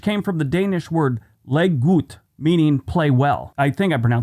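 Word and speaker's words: leg godt: He invented the term Lego, which came from the Danish word leggut, meaning play well. I think I pronounced that right, but it's L-E-G, looks like leg, and then G-O-D-T.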